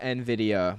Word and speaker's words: Nvidia: It's pronounced Nvidia, my guy.